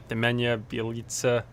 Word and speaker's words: Nemanja Bjelica: Nemensa Bjelica? Nemanja Bjelica.